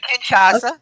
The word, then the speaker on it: Kinshasa: of odd that Orton stopped Shinsuke from that Kinshasa. I guess is how you say it. I don't say that very well, so No, you excuse said it. it right, Kinshasa.